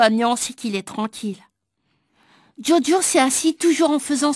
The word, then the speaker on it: Djodjo: nous a dit joachim il faut prononcer diodio tétouan jo hakim haddi